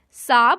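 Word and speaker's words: Saab: among them is true a sob or you may pronounce it as s double a B it is an automobile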